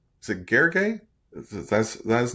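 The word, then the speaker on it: Gergely: I believe it's Gurgley. Gurgley. Okay. All right. I'll I'll we'll go with that. uh or we could just call him the pragmatic engineer.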